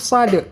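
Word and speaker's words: ص: Shad huruf Shad ini huruf sad dibaca tetap tebal walaupun barisnya di bawah tetap dibaca tebal seperti kita jelaskan tadi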